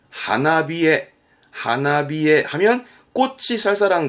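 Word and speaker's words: 花冷え: 쌀쌀한게 히에르 그래서 요렇게 씁니다 앞에 꽃이 붙었죠 발음은 하나비에 하나비에 하면 꽃이 쌀쌀한 거 그렇습니다 꽃이 필 무렵 쌀쌀함이 오는 내 꽃샘추위 우리는 꽃샘추위를 니혼고 대화 일본어에서는 하나비에 하나비에라고 표현합니다 뒤에 증상의 증자가 보입니다 증상의 증자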